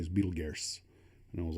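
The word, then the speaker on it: Betelgeuse: in orion and apparently the one we call beetlejuice is actually its real name is beetle is for proper pronunciation is betelges and i was like i don't see an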